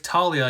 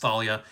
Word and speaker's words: Thalia: All right, this comment says, "If Talia, you didn't really spell it right. It's actually there's an H in there. It's pronounced Thalia.